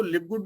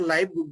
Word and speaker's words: LiveGood: तो अगर हम इसको लिव गुड भी बोल सकते हैं और लाइव गुड भी बोल सकते हैं दोस्तों, क्योंकि स्पेलिंग इसकी बिल्कुल सेम है, लेकिन कहीं ना